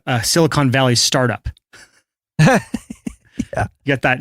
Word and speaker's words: Silicon Valley: look at a growth chart it's like a Silicon Valley startup yeah you got that nice Silicone Valley it's pronounced silicone yeah for those of you who